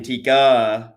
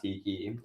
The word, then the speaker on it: tikka: Drink, we've got mug, we have canoli for dessert, butter chicken sauce, and then most importantly, chicken tikka masala pizza, not tiki as I was uh famously pronouncing it.